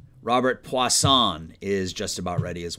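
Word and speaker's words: Puason: hang on a second somebody gave me the pronunciation let me find it here because i was saying it wrong i want to make sure i get it right poisson poisson there we go robert poisson is just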